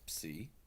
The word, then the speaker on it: psi: I want you to think as you pronounce this psi, psi, psi. Can you hear the English letter P and S? Psa, psa, psa. And that's how you'll pronounce it.